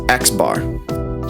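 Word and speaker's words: x̄: This guy is pronounced xbar.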